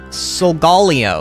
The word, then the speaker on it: Solgaleo: are you on year two art hell says solgaleo sigalia okay that's how you say it honestly